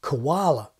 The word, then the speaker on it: koala: easy to see how the word koala, which Macquarie transcribes like this, transformed so easily through the weakening of the first syllable into the more common Australian pronunciation koala.